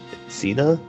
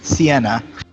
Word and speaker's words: Sienna: Cena? How do you say your name? Sienna.